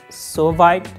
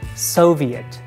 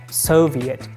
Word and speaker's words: Soviet: the next one is if you pronounce this word like Soviet or solve it it's wrong the correct one is Soviet Soviet like Soviet Union we almost know Russia